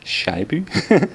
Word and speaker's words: Scheibe: That's pronounced Scheibe.